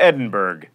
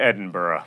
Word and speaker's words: Edinburgh: You don't go to Edinburgh. You go to Edinburgh.